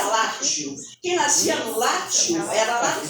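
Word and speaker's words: Lazio: quem nascia no latteo italiano se pronuncia latiu quem nasce era lá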